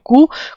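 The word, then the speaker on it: coup: हटा दिया गया थ्रू कू क क्या होता है सीओ यूपी होता है इसकी प्रोनंसिएशन क होती है पीस साइलेंट होता है दैट फ फोर्सफुली ओवरथ्रोइंग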